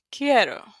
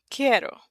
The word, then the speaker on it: quiero: When we have those three letters together, the Q, the U, and the U is silent. So, you only hear the Q and the I. Qui. Quiero.